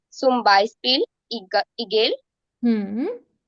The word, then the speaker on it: Beispiel: And it's not Beispieler, it's just Beispiel. Okay? So zum Beispiel. Zum Okay, ma'am. Beispiel. Yeah. I, zum Beispiel Igel.